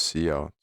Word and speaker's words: cout: the character output string it is pronounced c out this sign is is